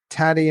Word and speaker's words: Taty: Tatty in Arizona. Did have I been pronouncing your name correctly? Tati.